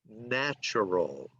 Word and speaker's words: natural: Now, this word is natural. Okay, remember this word over here is nature, but you pronounce it differently when you say natural. The A sounds different. Natural.